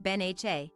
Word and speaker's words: Benja: Benjamin kraski pronounced benen often shortened to Benja which is pronounced Ben ha has grown into a